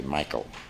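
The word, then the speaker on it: Michel: side of the family they say Michael good German pronunciation on my father's side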